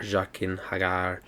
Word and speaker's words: Jaqen H'ghar: Jaqen H'ghar.